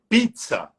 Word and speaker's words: pizza: né que eles cham italiano entona a primeira sílaba antes do duplo Z doia Zeta que eles falam então seria pizza pizza só que pra gente